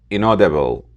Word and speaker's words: inaudible: It's pronounced inaudible. Inaudible. The stress is on the second syllable.